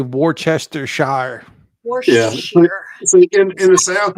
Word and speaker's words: Worcestershire: Worcestershire is actually how it is pronounced.